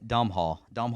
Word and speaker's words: Domhnall: It's Gleason's son, Domhnall Gleason.